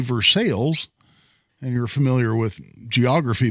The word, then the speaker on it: Versailles: if you're if you're listening to me say for sales and you're familiar with geography much you may be rolling your eyes going well no you idiot it's pronounced Versailles and in fact literally right at 40 years